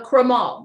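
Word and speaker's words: Crémant: lovely so this is a crema the tea is silent it's made the exact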